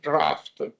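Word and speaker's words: draught: So this term here, I'm not really sure of the pronunciation because it depends on American English and UK English, but I am quite sure that at least in UK English it is pronounced like draft, okay? With to take it distinguished from drought, which means water scarcity, okay?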